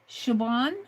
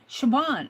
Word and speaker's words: Siobhan: S I O B H N. Pronounced Siobhan. Siobhan.